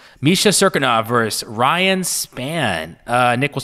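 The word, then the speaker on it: Cirkunov: Serkinov. Misha Serkinov versus Ryan Spann.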